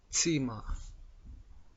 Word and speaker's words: Zimmer: این حرف صدای ترکیب دو حرف دری ت و سین را می دهد، مانند das Zimmer با تلفظ Zimmer.